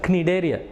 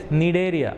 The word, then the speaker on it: Cnidaria: Other name for this phylum is Cnidaria. Okay, C usually we don't take silent. It is not called as Cnidaria. That is wrong pronunciation. It is Cnidaria.